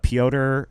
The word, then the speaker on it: Piotr: But Piotr Michael. Piotr. Do you look up Piotr? Piotr Michael is just spelled like it sounds.